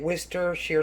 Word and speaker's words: Worcestershire: Worcestershire sauce, yeah.